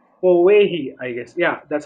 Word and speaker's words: Powehi: So they came up with this Hawaiian name called Powehi, I guess.